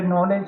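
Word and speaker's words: knowledge: जैसे नॉलेज शब्द है उसका स्पेलिंग ये आप देखिए के से शुरू होता है।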